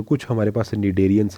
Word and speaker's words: Cnidarians: तो उस वजह से जितने भी निडेरियंस हैं, सी साइलेंट होता है, जितने भी निडेरियंस हैं, example corals have a skeleton composed of calcium carbonates.